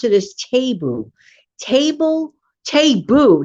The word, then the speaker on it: Tabu: my laundry experience with my Tabu it's all pronounced it as table table taboo not table wake up Jen taboo portable washing machine it's